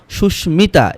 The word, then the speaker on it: সুস্মিতা: বলা হচ্ছে কিছু সংস্কৃত শব্দে মফলার ময়ের উচ্চারণ হয়। সংস্কৃত শব্দগুলো স্মিত, এটা ম উচ্চারণ হবে। কুষ্মাণ্ড, সুস্মিতা, এগুলোতে ম উচ্চারণ হয়েছে, কারণ শব্দগুলো হচ্ছে সংস্কৃত শব্দ।